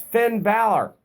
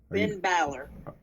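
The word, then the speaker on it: Finn Bálor: It's Finn Balor.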